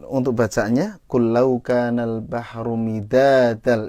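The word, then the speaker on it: مدادا: Kemudian untuk bacaannya kullau kanal bahru midadal, itu da-nya yang pertama panjang kalau nggak salah ya. Tadi Ibu bacanya midadal, pendek ya gitu.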